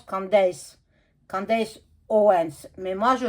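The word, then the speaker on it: Candace: pas ça se dit Candas non en français ça se dit candis ça n'existe pas en Candas en français c'est en américain en anglais en fait ça se ça ça se prononce candis candis Owens mais moi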